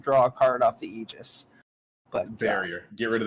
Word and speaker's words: aegis: right 90s dubs don't even know how to pronounce the english language it's it's aegis if you're listening and if you say aggies you're dead you cut off yeah if we're